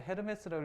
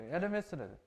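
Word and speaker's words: Hermès: 저 처음에 헤르메스라고 읽었는데 아니더라고. 단응이 헤르메스죠, 그렇죠? 에르메스래.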